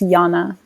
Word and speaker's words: Janna: pronounce your name correctly is it jana is it jonah but it's pronounced yana okay i wasn't sure so everyone she's jana now yana do you think men